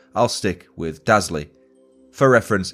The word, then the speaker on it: Dazley: Now, I'm not sure whether it's pronounced as Dazley or Dazley, but based on the spelling, I'll stick with Dazley.